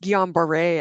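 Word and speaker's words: Guillain-Barré: explanation of what is gambar syndrome? Yeah. So gon it's pronounced gon bare actually.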